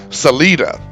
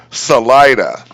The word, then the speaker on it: Salida: in the Modesto area, this word means exit in Spanish, Salida. But that's not how the name is pronounced. If you want to visit, drive up Highway 99 and take the Salida for Salida.